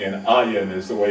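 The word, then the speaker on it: אין: Now that's the Hebrew spelling, and Ayin is the way it's pronounced.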